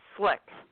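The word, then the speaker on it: Szlyk: act no actually uh it's easy to pronounce because you don't pronounce the Z it's slick you know the Y is is short is a short I yeah well thank you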